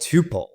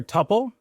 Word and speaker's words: Tuple: I prefer Tuple, but Tuple is fine, and other people say Tuple, so it's fine.